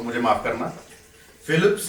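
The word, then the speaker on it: Phelps: America का एक swimmer हुआ है माइकल फेल्प्स, प्रोनाउंसिएशन अगर गलत हो तो मुझे माफ करना, फिलिप्स नहीं है उसका नाम, फेल्प्स है, माइकल फेल्प्स।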